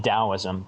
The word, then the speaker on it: Taoism: Today it's spelled Qing Dao. And for like Taoism, Taoism. It's actually Taoism, but because originally people learned about it through